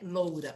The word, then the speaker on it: loura: ou loira tá então essa palavra ela tem duas pronúncias As duas estão corretas não vamos nos preocupar com o loura ou com o loira tá assim como toucinho ou Toicinho Então são palavras que T duas pronúncias dentro da nossa língua ambas aceitáveis ambas dentro da Norma culta então quando eu falo